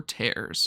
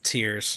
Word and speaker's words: tears: did they ever confirm the pronunciation of the title is it tears or tares it's tears okay yeah in fact in